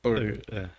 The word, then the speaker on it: Purdue: E doutorado daquele modelo sanduíche, né, na Universidade de Purdue, Estados Unidos. É assim que pronuncia mesmo? Purdue. Purdue.